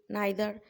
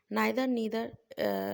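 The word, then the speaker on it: neither: देखें statement using बेयरली, hardly, नाइदर, नीदर, ये pronunciation it's अप, एक अमेरिकन प्रोनाउंसिएशन है, एक ब्रिटिश है। सो नाइदर भी कहते हैं, नीदर भी कहते हैं, नो बडी, नन, नथिंग, सेल्डम और एंड नो।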